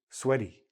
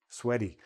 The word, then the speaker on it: sweaty: "Sweaty" se prononce comme un D, donc les mots qui se terminent par "ty" sonnent souvent comme "d", "sweady", pas "en sueur", "sweady".